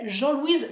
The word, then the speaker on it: Jean Louise: c'est bizarre comme prononciation jean-louise et je pense non la prononciation anglaise correcte c'est Jean Louise Finch voilà je voulais vous